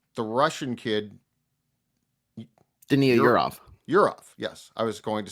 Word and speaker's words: Yurov: Yurov, yes. I was going to say, is that the correct pronunciation?